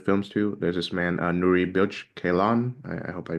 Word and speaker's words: Nuri Bilge Ceylan: There's this man Nuri Bilge Ceylan. I hope I pronounced his name Nuri correctly.